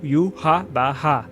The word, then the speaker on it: Yhwach: Y sendo o u, o h sendo ra e o w sendo o bar. Depois temos o h novamente repetido com o som de ra e aí virou u ha ba.